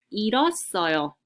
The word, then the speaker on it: 잃었어요: So you see also the double consonants with the H sound, that's called hiut. Hiut will be silent, and the other consonant will be pronounced instead.